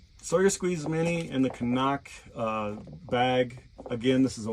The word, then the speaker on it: CNOC: I also will use from the Knock Outdoors, some people call it CNOC, but it's pronounced Canuck, and the Sawyer Squeeze.